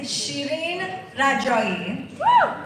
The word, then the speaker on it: Shireen Rajoi: become an evening anchor reporter here locally and um the authentic way to say my name is Shireen Rajoi and it's Persian.